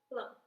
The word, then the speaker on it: phloem: It's called phloem, and it's spelled like this.